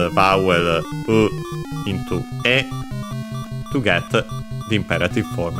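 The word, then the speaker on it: へ: Then we have the particle e written as he but pronounced as e uh towards.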